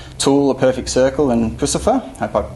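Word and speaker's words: Puscifer: his work with tul a perfect circle and pfer hope I pronounced that correctly yes you did um but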